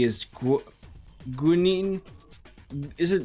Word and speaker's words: guanine: Guanine is usually how you say it.